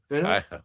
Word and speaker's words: finna: Well, you have two consonants, double consonants, that would make the vowel in that first syllable a short vowel. Because you would split, phonetically you split the word into syllables between the two ends. And so it would be finna. So basically, I guess that's slang for fitting to.